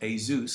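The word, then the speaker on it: Jesús: Now, his actual name is pronounced Azzam because he's Spanish, but he lives in Luxembourg.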